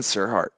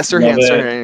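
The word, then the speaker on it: Serhant: Ooh, I would kind of say Ryan Serhart. Sirhan. Yeah, Sirhan. Excuse me. I'm so bad with the pronunciation.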